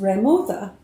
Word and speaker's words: remuda: The word is pronounced remuda in the Southwest, but most Texas cowboy merely say horses.